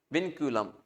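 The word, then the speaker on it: vinculum: इसको क्या बोलते हैं विनक्युलम इसको बोलते हैं विनक्युलम ऊपर जो स्ट्रेट लाइन है इसको विनक्युलम बोलते हैं विन क्यूलम ये प्रोनाउंस होता है ना देख लेना पिनकूलम क्या काम है?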